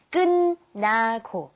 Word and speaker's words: 끝나고: And be careful of the pronunciation. We have 끝, but you pronounce it 끝나고.